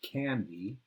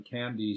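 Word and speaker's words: Kandy: temple in a town called candy spelled with a k and it was up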